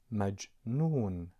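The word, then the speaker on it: مجنون: M with a short vowel R, you would say ma. And then J with a pause, you pronounce it maj. And the letter N with a long vowel O, you pronounce it nu. And finally, it's N, so you pronounce it majnoon, majnoon.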